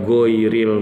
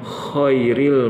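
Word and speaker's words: غير: ya seringkali bacaannya itu kalau dia nggak baca ghoiril madhu dia bacanya Khoiril mahdu Jadi huruf wa ini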